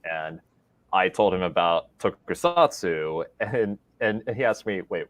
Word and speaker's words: tokusatsu: Yeah, and and instead of saying tokusatsu, he would say tonkatsu because it is pretty hard to pronounce.